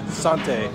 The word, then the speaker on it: Santé: Santé is how you say it.